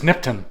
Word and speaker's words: Nipton: said it's either nipton or nipton but it's nipton nipton yeah nipton like I said 14 years